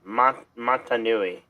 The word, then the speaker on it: Matanui: I think the name's pronounced Matanui. I've just been saying Mata, the first part of it.